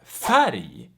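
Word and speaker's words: färg: explain so for instance r plus g and l plus g they make the g also pronounced like yi so for instance we have bari which means mountain and we have fatty fatty which means color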